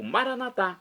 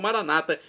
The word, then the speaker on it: Maranata: E agora eu clamo Maranatá, como dizemos nós católicos, ou Maranata, como dizem nossos irmãos separados. Não importa a pronúncia, o significado é o mesmo.